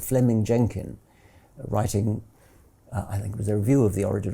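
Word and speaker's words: Fleeming: Jenkin was simply it's written Fleming but is pronounced Fleming um Fleming Jenkin was simply saying manifest facts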